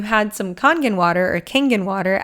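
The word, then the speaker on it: Kangen: Now, if you had some congen water or kangan water, I don't know how you pronounce it. I say congen.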